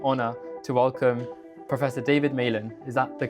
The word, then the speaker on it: Malan: Today I have the absolute privilege and honor to welcome Professor David Men. Is that the correct way of pronouncing it? It is. Yes. Um so Professor David Men um is someone who has inspired millions of